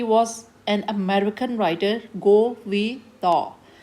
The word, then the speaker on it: Gore Vidal: Writer का नाम है, यहाँ लिखा हुआ बेटे, ही वॉज an American writer, गो वी द. एल को प्रोनाउंस नहीं करना, आर को प्रोनाउंस नहीं करना. गो वी द इज़ the writer of your play a visit to a small planet.